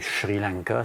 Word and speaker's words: Sri Lanka: être la prochaine tendance, le Sri Lanka, qu'on doit prononcer Sri Lanka si on le prononce dans la langue tamoul.